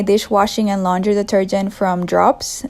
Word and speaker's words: Dropps: I buy my dishwashing and laundry detergent from Drops. That's spelled DROPPS.